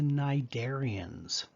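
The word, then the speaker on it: Cnidaria: talk about are the narian notice that the C is silent these are um metazoans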